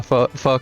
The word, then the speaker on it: pho: And for those of you who don't know, who haven't had it before, yes, that is pronounced pho.